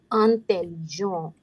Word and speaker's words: intelligent: The sound of en is on. T is the last letter, no sound. So it would be intelligent.